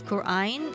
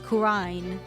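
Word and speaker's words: Khura'in: Yeah, but like the characters in the game don't pronounce it as Quran. They pronounce it as Qurine.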